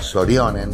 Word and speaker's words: Sorjonen: la serie finlandesa Sorjonen, que bien pronunciada en su idioma original sería Sorjonen, pero que también se conoció